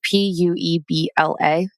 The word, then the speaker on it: Puebla: So, a 500-year-old tunnel system was discovered under the Mexico city of, Ty, how do I pronounce this? Puebla. It's a city. Puebla.